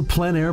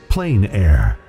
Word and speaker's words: plein air: The French pronounce it plein air. Others say plain air.